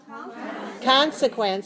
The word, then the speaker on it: consequence: our key words here consequence consequence how many syllables consequence three syllables worth of stress one okay so the syllable stress code is 3-1 three syllable stress the first one consequence consequence means the